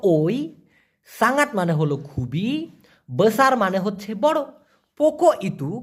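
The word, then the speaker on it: besar: পারেন নেক্সটে বড় বড়কে মালয়েশিয়ান ভাষায় বলা হয় বেসার বেসার অনেকে বলে বুসার না মূলত সঠিক উচ্চারণটা হবে বসার এখন এই বড় দিয়ে একটা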